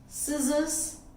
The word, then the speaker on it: scissors: C is silent, muscle, scissors, fascinate.